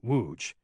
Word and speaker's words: Łódź: He pronounced the town correctly, Łódź, indicating he'd been here a while.